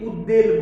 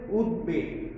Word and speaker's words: উদ্বেগ: তাহলে আমরা এখানে উদাহরণ দেখি যে উদ্বেগ, এটাকে অনেকে উচ্চারণ করতে ভুল করে, অনেকে উদ্বেল বলে, আসলে এটা হবে উদ্বেগ।